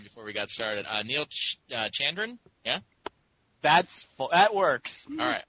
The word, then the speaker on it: Chandran: Neal Chandran? Yeah? That works. All right. Excellent. Now, what is it like totally? Like Chandran, Chandran? Chandran's fine. Chandran, okay, yeah, I definitely should have said that in the pre-show warm-up.